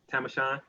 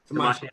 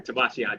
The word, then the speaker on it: Tamashian: just like and I do not want to pronounce your name wrong, Tamashan. How do you say it? Tamashian. All right, I'm sorry, Tamashian.